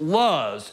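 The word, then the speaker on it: לוז: tree and an almond when that word is pronounced in the hebrew is pronounced luz and i don't know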